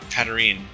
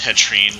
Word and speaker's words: Hatterene: control after, I'm sorry, I always mispronounce the name, Hatterene. I think I said Hetrine, like Latrine.